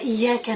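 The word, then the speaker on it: إياك: aider à contempler, à méditer le verset « Iyaka na'budu wa iyaka nasta'in ». « Iyaka na'budu » seul toi nous adorons, cela concerne Allah Azza wa Jal. « Wa iyaka nasta'in » cela nous concerne.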